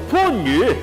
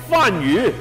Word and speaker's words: 番禺: 廣州番禺讀番禺，千祈唔係讀成番禺。呢個番字有兩個讀音，一個係番，一個係番。表示地名嘅時候就讀番。